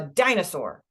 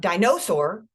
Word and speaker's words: dinosaur: there okay or uh dinosaur it's not dinosaur or dinosaur it's dinosaur okay so that's one way